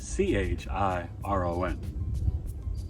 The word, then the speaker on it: Chiron: You can see it's like the little circle and a line with the K, but it's spelled Chiron. Go figure.